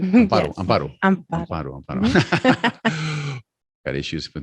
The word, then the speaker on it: Amparo: Amparo, yes.